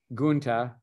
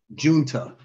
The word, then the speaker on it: Junta: his Kata partner Jeff I'm sorry if I pronounced this wrong gunta for over 20. sorry say it one more time Sensei Junta Junta uh for over 20